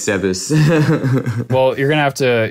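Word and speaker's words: Zebes: or Zeus I don't know how you yeah Zeus is how you pronounce it Kevin Kevin earlier was like it's like zebs orely I'm scking it's like no Kevin it's Zeus well you're gonna have to you're going to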